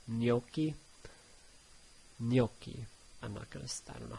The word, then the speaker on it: gnocchi: And then gn makes a nya sound, like in gnocchi.